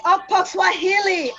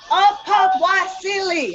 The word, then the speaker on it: Okpokwasili: Next week is Kyle Marshall and Okwi Okpokswahili. Okpokwasili.